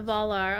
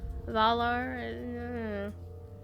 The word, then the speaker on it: Valar: valar shine upon the volar okay the voice that always always irritates me just a little bit the the voice actor not pronouncing valor correctly it's valor valar i don't know maybe